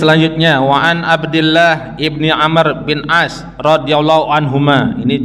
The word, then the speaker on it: Amr: Tapi kalau belakangnya ada waw, itu Amr bacanya. Tapi kalau nggak ada wawnya, Umar.